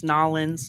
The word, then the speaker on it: New Orleans: of New Orleans now do you say New Orleans or New Orleans New Orleans can you pronounce the two words I have family in West Monroe yeah and it's nawlins yeah or New Orleans that's that's a lot of people who live there say that yeah yeah yeah well